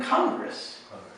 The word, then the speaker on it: Congress: that sounds like a different word right than Congress Congress is Right Congress is a different word